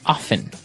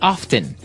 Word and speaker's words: often: Now with pronunciation, some people like to pronounce often, right? They kind of leave out the strong T sound. Well, other people say often.